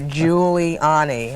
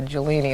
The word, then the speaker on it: Giuliani: that's what I said I have it written out phonetically here Giuliani I don't want to call you jolini like the conductor in LA a lot of people